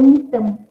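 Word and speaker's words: Gnetum: Contohnya adalah pokok nitem. Okay, awak kena silent G eh, macam ni nak bunyikan dia, silent G, nitem.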